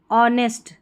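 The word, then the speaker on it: honest: अब यहाँ पर देखिए एच कब साइलेंट रहता है, जैसे ये वाले पैटर्न है ना, इसमें ऑनेस्ट, ठीक है, ऑनेस्ट में एच नहीं पढ़ा जा रहा है.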